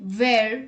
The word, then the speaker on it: where: H is not pronounced when it comes after W. Some speakers whisper the H before the W. Let's look at the examples. What, when, where, whether, why.